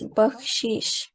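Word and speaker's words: بخشش: you repeat again sorry it's bakshish so it is my Islam body pronunciation is wrong but she as Fatma said is correct and then this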